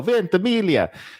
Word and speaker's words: Ventimiglia: I'm so proud I know how to pronounce his name. Milo Ventimiglia.